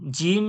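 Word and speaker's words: ج: আমি আপনাদের পড়িয়েছিলাম আগে, জিম কোথা থেকে উচ্চারণ হয় বলেছিলাম না, জিহ্বার মাঝখান ও সোজাসুজি তালু, শিনও জিহ্বার মাঝখান ও সোজাসুজি তালু, ইয়াও জিভের মাঝখান ওর সোজাসুজি তালু।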